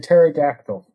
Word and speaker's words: pterodactyl: there another R an R he as in pterodactyl pterodactyl but hold on Jordan is it protecting